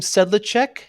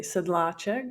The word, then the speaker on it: Sedlacek: nice to meet you your last name said the check is that pronounced correctly right right you can you can go to Eastern European side and say sidla check but I'm okay with it I'm okay with what you came up with very good how how